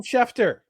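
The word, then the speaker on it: Schefter: breaking news let's put that bumper Adam shefer I said it right this time yes ston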